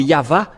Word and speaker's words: Yahvah: c'est toujours le V la vraie appellation c'est pourquoi c'est yava et ceux qui prononcent yava sont ôés du péché mais ceux qui prononcent Yaou ne sont jamais délifrés du